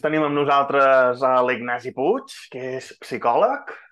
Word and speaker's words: Puig: Doncs tenim amb nosaltres a l'Ignasi Puig, que és psicòleg. La P sempre es pronuncia. Sí, sorpresa, es pronuncia.